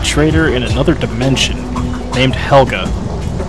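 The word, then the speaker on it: Helguh: to be a traitor in another dimension named Helga it's spelled h-e-l-g-u-h that comes into play later so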